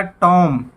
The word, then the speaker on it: tomb: उसके बाद TOMB, यहाँ पे बी साइलेंट है और बोला जाएगा टॉम।